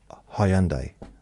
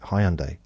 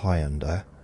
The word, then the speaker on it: Hyundai: the showroom and said no it's not highend highend it's a it's like what it's a huh like so we need to